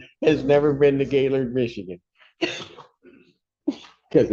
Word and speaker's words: Gaylord: It's like has never been to Gaylord, Michigan because it's pronounced Gaylord, not it's not two separate words.